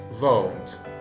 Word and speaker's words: won't: And after that, for the pronunciation, the vowel sound in won't is a diphthong, O. It's the same sound we find in the word nose, which is won't.